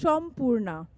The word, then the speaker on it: Sampurna: And Sampurna writes books, teaches writing, wears silver, lovely silver may I add, talks fast and is actually pronounced Shampurna.